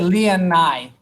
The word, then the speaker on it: Leonai: Se dice Leonai. Yes, Leonai. Interesante, Leonai. Emphasis on the A. ¿Cómo así? No, like when you say it, like you like emphasize the A. Like Leonai.